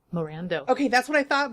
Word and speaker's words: Morando: wait how do you say your last name Miranda okay that's what I thought but I didn't